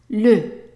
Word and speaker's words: le: So the first one here is pronounced le, le. And that's because an E in French attached to one consonant, one letter, is pronounced E, E.